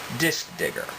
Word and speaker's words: DiskDigger: into recovery and found disk digger that's disk d-i-s-k digger d-i-g-g-e-r just so no one gets any assumptions about mistaken pronunciation just so we're all